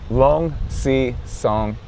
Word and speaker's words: Luangsisongkham: It's a long sea song. Long. Yeah. So, if you break it down into four syllables, it makes it so much easier. So long sea s.